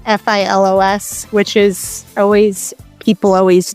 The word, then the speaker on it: Filos: Um, if and my name it's spelled F I L O S, which is always people always misspell it, but pronounce it pillows. Filos felos.